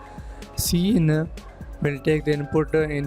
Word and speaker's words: cin: keyboard with the extraction operator C in is pronounced C in used for input and user extraction operator user